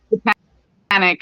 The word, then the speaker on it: Botanique: It's Botanique as well. Botanique skin nutrition.